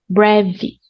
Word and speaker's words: breve: This pronunciation, bre. If you can't roll your R, I totally suggest you to do your R, the American R, brevi. Okay? Practice brevi.